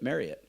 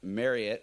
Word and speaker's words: Marriott: about your role at Marriott yeah and fun fact Marriott it's not Marriott Marriot like Chariot exactly I learned that